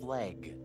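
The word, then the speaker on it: FLEG: And they didn't take the easy win with f l eg. They actively pronounced it flag.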